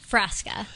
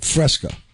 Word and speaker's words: Frasca: Frasca. like the drink? Like the drink, but with 2 A's instead of an E and an A. Like Frasca.